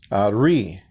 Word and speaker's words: ari: And when you pronounce that, it's Ari.